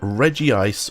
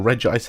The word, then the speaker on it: Regice: will need to have reggie ice or regice however you want to pronounce it have a nickname and